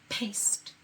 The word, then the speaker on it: paste: We need a silent E because even though there's two consonants, it can look over the silent E and make the A say A. Paste.